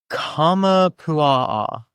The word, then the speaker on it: Kamapua'a: So, on to the next and last entry is the Kamapua'a. Yep. I am pronouncing all of these wrong. It is something like this.